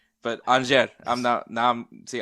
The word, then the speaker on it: Angers: I always say angers, but I'm glad that you That's what